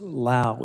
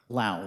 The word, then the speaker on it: Lao: General and it's pronounced Lao is it not Lao rhymes with cow which is helpful because